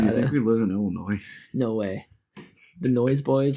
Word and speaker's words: Illinois: that aren't from Illinois pronounce the S in Illinois. It's crazy. Like my dad, when he didn't know it was pronounced Illinois until he met my mom.